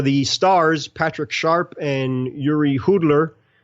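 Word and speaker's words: Jiří Hudler: Okay, I did research on that because I wanted to make sure I pronounced it properly. Give me one more. Just give me one more. Yuri Hudler.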